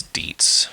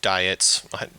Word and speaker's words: Dietz: a book written by I think it's Dietz yeah William Dietz or diets his name is spelled d-i-e-t-z but anyway uh yeah